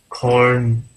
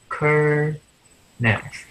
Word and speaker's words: kernel: Corner. And I also have some questions about the pronunciation. Okay, so that is Kernel.